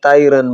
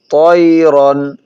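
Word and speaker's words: طَيْرًا: আলাইহিম ওয়াআরসালা আলাইহিম তয়রন অনেকেই আমরা তাইরান বলি থাকি, তা উচ্চারণ করি। এখানে তয়রন, তয়রন।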